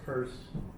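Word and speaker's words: Peirce: U and and then we'll pick on James and and Charles Sanders purse. And it's pronounced purse.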